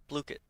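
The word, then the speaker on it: Blooket: Blookit. Oh, and it has a pronunciation on the website.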